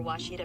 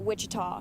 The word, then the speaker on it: Ouachita: Searching for Ouachita Baptist University. Back in Texas, everybody pronounces it Wichita, but really, it's Ouachita.